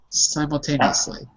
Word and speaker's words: simultaneously: You say the name of the vowel. And the name of the vowel is I, and there's no other vowels in the syllable, so it's psi, simultaneously.